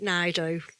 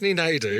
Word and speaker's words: Naidoo: Naidu. Naidu.